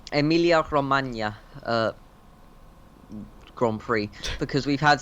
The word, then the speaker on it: Emilia Romagna: I think it's called the Emilia Romagna. I think it's like the G is a Y sort of sound. Emilia Romagna Grand Prix, because we've had three Grand Prix at Grand Prix in Italy now.